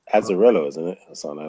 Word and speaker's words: Azzarello: I think it's Azzarello, isn't it?